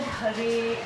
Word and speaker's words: Hare: But that Hara becomes Hare in the vocative form.